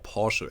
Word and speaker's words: Porsche: it was like yeah that was like a Porsche or Porsche actually is what it's pronounced like. I'm German, so I can pronounce Porsche like it's meant to be pronounced in German, I guess.